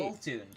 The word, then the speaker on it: Boltund: Apparently, even though I what think Pokemon did you Boltund miss? is the correct pronunciation.